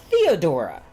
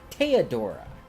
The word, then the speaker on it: Theodora: a true Heir cuz her name is spelled Theodora not teodora what is it inbred